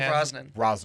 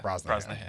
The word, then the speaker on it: Brosnahan: Rachel Brosnan. Or Brosnahan? Brosnahan? Brosnahan. My bad. I'm not good at pronunciations.